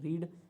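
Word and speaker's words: read: रीड रीड का रीड को रेड पढ़ते हैं। क्या पढ़ते हैं? रेड।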